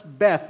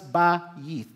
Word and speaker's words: Beth: right Beth but in in Hebrew it's not pronounced as Beth but it is pronounced as baith b-a-h-y double e t